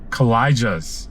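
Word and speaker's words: Kawlija: A W L I J A and it's collijas is how you that's how you pronounce it.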